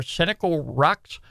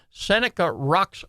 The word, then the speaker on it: Seneca Rocks: part of the Monongahela National Forest it's near cynical rocks so let me show let me pronounce that again Seneca Rocks West Virginia and uh this Campground right here